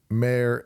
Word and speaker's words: Maher: the podcast because it's we pronounce it mayor and you'll see that